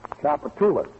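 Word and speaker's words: Tchoupitoulas: Chapatoulas.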